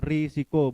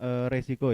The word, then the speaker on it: risiko: Jadi yang benar itu adalah risiko, bukan resiko ya. Ternyata di KBBI yang baku itu adalah kata risiko. Baiklah, ada dua kata yaitu manajemen dan risiko.